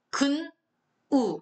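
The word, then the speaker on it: 근우: 근, 우 이렇게 읽어야죠. 우군이라고 읽으시면 안 됩니다.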